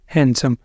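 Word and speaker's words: handsome: adjective नहीं बोलना adjective हैंडसम हैंडसम नहीं बोलेंगे इसको हैंडसम डी यहां पे भी साइलेंट है और उसके बाद आ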